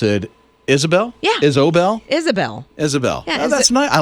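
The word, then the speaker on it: Ysobel: for you why s OBE L but they pronounce it Isabel Isabel Isabel Isabel I like how they how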